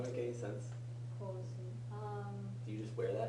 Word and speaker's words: 香水: You just be careful your pronunciation. 香水. It's an extended vowel.